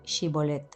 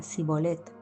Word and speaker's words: Shibolet: Si él respondía no, entonces les decía: Ahora pues, di Shibolet. Y él decía Sibolet, porque no podían pronunciarlo correctamente. Entonces le echaban mano y le degollaban junto a los vados del Jordán.